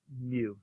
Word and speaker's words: mu: it's this thing once in a while it's mu is how you pronounce that which is fine because it looks